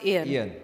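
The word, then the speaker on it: Eyan: to us and said it's e-y-a-n okay it's still pronounced Ian okay all right good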